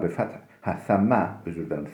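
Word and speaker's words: ثَمَّ: Thumme yeftahu thumme bifeth, themme, özür dilerim, themme kelimesi, themme, yani thumme değil de themme bifeth thai, sa harfinin fethasıyla, üstün okunuşuyla, bir mana hunake, fehuve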